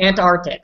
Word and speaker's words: Antarctic: Yeah, the word ant. Not your aunt. That's aunt. Your aunt. The first one, ant. Insect. Yeah, it's an insect. Antarctic. So that's what I use. Ant and then Arctic.